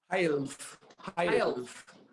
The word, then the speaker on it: Heilf: the questions are how am i here and pronouncing your surname is health health hail i'm a hail from cologne in germany uh